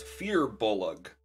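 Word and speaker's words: firbolg: looked this up apparently i've been saying it wrong the whole time it's fear bullock oh is it apparently i don't know where you where does the youth come from i don't know like apparently there's a weird extra syllable or whatever and awesome flights here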